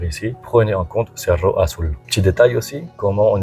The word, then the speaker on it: Cerro Azul: À savoir le z se prononce s en espagnol. Alors, on dit sur Rasulou, je vais vous montrer bien sûr quelques vidéos ou photos de l'endroit Serge Roou.